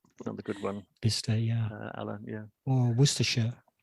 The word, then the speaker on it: Bicester: The other one's Bicester, another good one. Bicester, yeah.